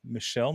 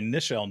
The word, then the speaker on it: Nichelle: minority affair all right michelle nick or sorry nichelle nix just click in the